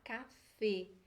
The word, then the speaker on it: café: português a gente fala café espanhol vamos falar café café não na palavra em português a gente